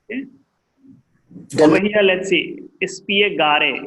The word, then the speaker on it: spiegare: Spiegare. It is not silent.